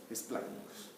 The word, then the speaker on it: esplácnicos: Y lo último que va a hacer mi cadena simpática torácica es formar los nervios esplácnicos, con acento en la A, esplácnicos.